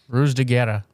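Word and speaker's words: Ruse de Guerre: d e gu u e r r e Rus deera R there you go and he also did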